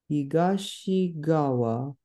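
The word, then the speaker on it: 東側: Here it's higashi because the second kanji is pronounced as gawa, which is the single reading of it. Higashigawa no Akebono gai ni aru Akatsuki goten ni sunde iru.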